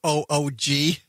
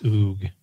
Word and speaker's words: Oog: Way to go, or OOG. Thank you for the courtesy call. It's Oog. Right. Oog. If you want to pronounce that correctly.